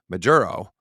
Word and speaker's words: Maduro: Yeah, Nicolas Maduro. Since he came into power, he's kind of assumed the position of being the top narco and overseeing the generals. But the generals are paying off Maduro, and everything filters down.